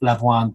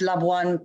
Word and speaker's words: Labuan: to continuing the conversation and to talking about Labuan to those of you who do make it. I will now pass back to Farah. Thank you. Thank you, Ollie. No, and number one, you pronounce Labuan perfectly, or Labuan perfectly.